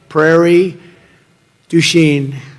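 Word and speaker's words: Prairie du Chien: get worse actually so we're here today in Prairie duen got a good yeah good pronunciation you could have given me a little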